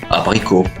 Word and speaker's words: abricot: par exemple tricot peau abricot vous voyez bien que le thé est mué donc on ne dit pas tricote pote abricotte Non mais bel et bien tricot pour abricot.